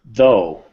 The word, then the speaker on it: though: think much better excellent though no same th sound though though better though though though